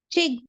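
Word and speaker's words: གཅིག: So in Tibetan we have, can anyone try to pronounce this one, Chig. है ना। This one is pronounced as a chick, and again we have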